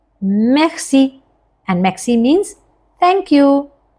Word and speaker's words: merci: And yes, if any of you, somebody is pronouncing like merci, that is also fine, because we are using Indianized accent this way. But yes, if you want to pronounce just like French people, then use throat sound. That is merci.